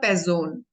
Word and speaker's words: Person: is a person but in German Sound is different it's called pezzone pair zone so s is pronounced like the zone means it's about all